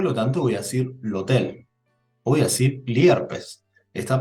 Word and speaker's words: hotel: sucede acá la parola hotel también es extranjera en italiano la letra h no tiene pronunciación es muda al igual que en el español Entonces qué artículo coloco